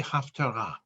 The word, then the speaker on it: Haftarah: The topic is, and I'm going to pronounce this in Ashkenazi Hebrew, is Haftorah. In Sephardi Hebrew, it would be Haftarah.